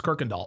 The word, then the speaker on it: Kirkendall: Oh, Brandon M says in Texas, that's how we pronounce it. It's Kirkendall.